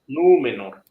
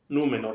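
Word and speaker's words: Númenor: yata nú no Exacto nu menor nu menor la segunda sílaba sería me Entonces no hay vocal larga no está seguida por grupo consonántico dos o más consonantes ent automáticamente me paso a la penúltima sílaba ojo eh de modo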